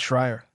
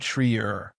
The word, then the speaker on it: Shreyer: Gerald also mentioned that Derek mispronounced the name of Northgate's regional director in Kentucky, a man named Paul Shreyer, which is pronounced Shrier, not Shreyer.